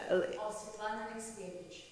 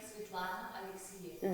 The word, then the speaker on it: Svetlana Alexievich: But just reading 2 reviews, this is from pronounce her name, the Svetlana. Svetlana Alexievich. Okay, say it again. Svetlana Alexievich.